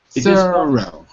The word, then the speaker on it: thorough: Thorough. 2 syllables.